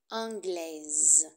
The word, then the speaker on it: anglais: anglais et le féminin anglaise attention à la prononciation du masculin au masculin on ne prononce pas le S français anglais et le féminin on